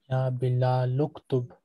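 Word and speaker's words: يا بلالُ اكتبْ: This hamzat al-wasl is pronounced only when the amr is not preceded by any word. If it is preceded by a word, the hamza is omitted in pronunciation, though it remains in writing.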